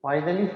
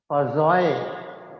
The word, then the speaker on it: Poiseuille: पॉइजलीज formula को actually पॉइजलीज मैं बोल रहा हूँ पर इसको कहते नहीं है, इसको कहते हैं पॉजॉय, पॉजॉय फार्मूला। कौन सा फार्मूला? पॉजॉय फार्मूला।